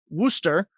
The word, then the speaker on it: Worcester: In 2016, you graduated from the University of Worcester, as we talked about in the show. It's not spelled that way.